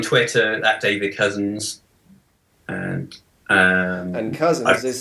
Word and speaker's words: Cousens: I'm also on Twitter at David Cousens, and Cousens is spelled COUSENS, not like the road.